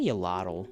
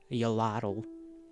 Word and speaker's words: Yoladdle: Yo, I say yallel, but yallel is technically not the correct pronunciation. It's just the easier one. It is the anglicized version, I suppose, of my little name, Yoladdle.